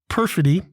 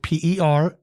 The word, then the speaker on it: perfidy: of the day is perfidy it is a noun it is three syllables spelled p-e-r-f-i-d-y perfidy it means the deliberate